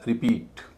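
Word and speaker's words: repeat: इसी तरह रिपीट आर इ पी ई ए टी रिपीट दूसरे सिलेबल पर स्ट्रेस है। पहला सिलेबल हल्का है।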